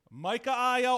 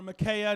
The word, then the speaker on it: Micaiah: This is Micaiah or Micaiah, depending.